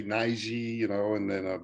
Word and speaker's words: Najee: i have one here to us today mr naiji i like the way you say my name